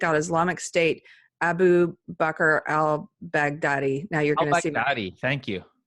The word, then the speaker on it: al-Baghdadi: it again al-baghdadi al-baghdadi I want to say I'll Baghdad but that sounds racist and horrible cuz that Baghdad's just a city and it's just I'm adding a line' front of the city but it is al-baghdadi doesn't sound racist to